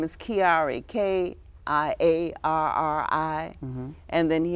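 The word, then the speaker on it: Kiarri: His name is Kiari, K-I-A-R-R-I.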